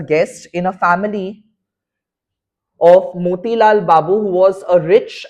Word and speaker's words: Motilal: That is how in Bengali we pronounce their name as Motilal Babu. It's like Motil Babu Ona and Charu Shoshi. That is how it is to be said.